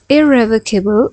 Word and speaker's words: irrevocable: Irrevocable or irrevocable. Both of the pronunciations are correct.